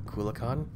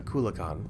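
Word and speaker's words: Akulakhan: have need of it a coolacon that's how you say it a coolacon well how come he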